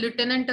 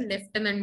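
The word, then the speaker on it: lieutenant: लेफ्टनंट असं म्हटलं जातं, तिकडे ते लुटेनंट असंच म्हटलं जातं. माझा पहिला एक्सपिरियन्स अमेरिकन मूवीचा, जेव्हा मी आर्म्ड मूवी आर्म्ड फोर्सेस बद्दल काही बघत होते, आय वॉज सो शॉक की अरे लुटेनंट म्हणताना हे स्पेलिंग जास्त पटकन लक्षात राहतं रादर दॅन लेफ्टनंट म्हणताना. ओके, सो लेफ्टनंट बंशा, देन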